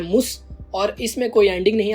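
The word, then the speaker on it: muss: मुस में उमलाउट नहीं है, इसलिए इसकी प्रोनाउंसिएशन हो रही है मुस, और इसमें कोई एंडिंग नहीं आती, ये होता है इश मुस।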